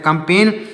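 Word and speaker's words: campaign: design design का मतलब design इसमें भी जी साइलेंट है कंपेन कंपेन इसमें भी जी साइलेंट है कंपेन मीस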